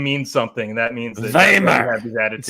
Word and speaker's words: Weimar: It's pronounced Weimar, isn't it? It's Weimar.